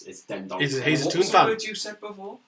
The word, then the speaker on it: Dendoncker: It's not the first time I've heard you use that pronunciation of Dion Decker. It's Dendoncker.